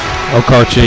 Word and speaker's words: Okarche: Number 15, Morgan Vogt, a 5'8" guard sophomore from Okarche, Oklahoma. I believe I'm pronouncing that right. Okarche, yeah, you got it.